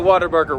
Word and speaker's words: Whataburger: Let's load up and go find a Whataburger while we're still in Texas. There it is, that beautiful W. There it is. The iconic A-frame shape. And no, it is not pronounced water. It is Whataburger.